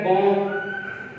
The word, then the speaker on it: bomb: इसके अलावा आपके पास एक वर्ड है बॉम्ब, BOMB, यहां भी बी साइलेंट है।